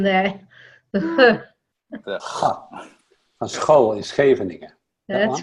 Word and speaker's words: Scheveningen: With a soft G, huh? Mm. I think, Harry, you've got the right pronunciation there. Van school in Scheveningen.